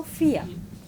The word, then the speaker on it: vier: But this one I, no? So vier.